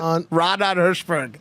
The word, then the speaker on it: Raanan Hershberg: It's a Hebrew word, so in Hebrew you have to have like a Israeli accent to say it.